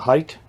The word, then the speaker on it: height: in the width the height is fine oh yeah and that's h e i g h t pronounced height not height it's not h e i g h t h look at the word anyway that's a little